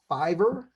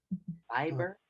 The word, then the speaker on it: Fiverr: It's kind of weird. Don't Not like Fiber fiber. No, it's actually Fiverr. So it's Fiverr, like the number five. V as in Victor. Yes, Fiber. Fiv ERR.